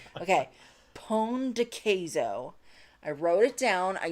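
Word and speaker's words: pão de queijo: Guillermo says, I think the pronunciation for you guys is something like Pon de Queso. Pon de Queso. Haha, thanks. Okay. Is that right? Pon de Queso. What do we think? Yes, that's exactly it.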